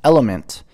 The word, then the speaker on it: LMNT: which then takes time lmnt pronounced element is a tasty electrolyte